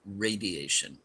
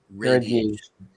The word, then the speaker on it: radiation: Now, that that's a great word to use, the perfect word, but it's pronounced radiation. radiation. So, it's got that long a radiation.